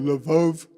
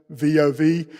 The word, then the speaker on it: Lvov: She was so good at it, they sent her for more training and actually sent her to Lvov, I think that's the pronunciation, Lvov, which was a larger city, and she met her handler there, same deal, she wore a bonnet.